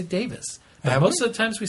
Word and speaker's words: Davies: another pronunciation uh note the surname Davies in the UK is generally pronounced the same as Davis here in the state so Russell T Davis pronounces his name Davis we've been I noticed